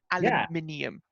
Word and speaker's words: aluminium: I stuck with the British thing, aluminium, extra syllable.